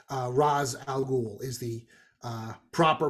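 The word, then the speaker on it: Ra's al Ghul: that's that's how he it was always Roz whenever we discussed it so whenever they pronounce it and then because they do Pete you're 100 right when it's race al Ghul or whatever that's technically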